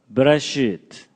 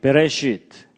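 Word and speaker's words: בְּרֵאשִׁית: 제가 발음이 별로 신통치 않지만 따라서 한번 해보시죠. 베레시트, 뭐 쉽게 그냥 베레시트, 바라, 엘로힘.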